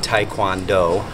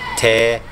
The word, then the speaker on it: Taekwondo: It is not Taekwondo. Taekwondo. Anybody who says Taekwondo doesn't know diddly squat about what they're saying. It's pronounced Taekwondo. Gwon, not Gwan. Or Kwan.